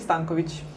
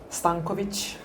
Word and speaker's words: Stankovich: The great Carl Summers, and the lovely Stankovich. There you go. How do you say your surname? Stankovich. Stankovich. There we go.